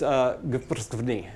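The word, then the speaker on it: გვფრცქვნი: And the word is, as far as I know, it's pronounced gprsvni.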